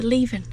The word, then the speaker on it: Leven: Well, I've been pronouncing it wrong. It's not Leven, it's Leven.